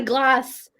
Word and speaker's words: Glace: However, as you may know, my name's Glace. It rhymes with place, and I'm so inspired by all different places all over the world.